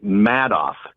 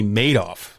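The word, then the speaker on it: Madoff: See, Bernie Bernie Matto. Bernie made off because he made off with your money.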